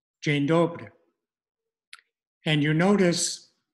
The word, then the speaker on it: Dzień dobry: And here's the basic pronunciation. Dzień dobry. Dzień dobry.